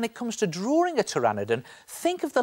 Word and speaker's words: Pteranodon: terrosaur family of dinosaurs now strangely when it comes to spelling tyraniden is spelled with a P P is for Pteranodon okay spelling lesson over